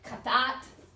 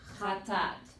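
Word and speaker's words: חטאת: Instead of katat, it's chatat. You actually say it twice. Okay, I know it doesn't sound like it, but if you see this, you know that the pronunciation's a little more emphasized on the tip.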